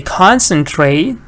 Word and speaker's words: concentrate: Here, the stress doesn't change when you add ing. Concentrate, concentrating. Okay?